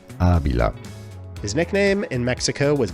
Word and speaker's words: Ávila: His name was pronounced Avila with the accent on the second syllable when it should have been Ávila.